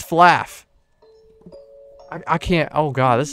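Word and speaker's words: flaugh: a oh my god is that the word flaw f-l-a-w but it's spelled f-l-a-u-g-h like laugh it's flaff i can't oh god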